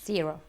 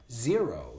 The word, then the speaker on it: zero: Zero. Zero. Zero. You see our Z, our Z, our Z vibrates.